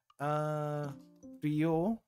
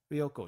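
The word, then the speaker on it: 旅行: Ryoko. Ryoko. Short ryo, no you, and ko as in to go.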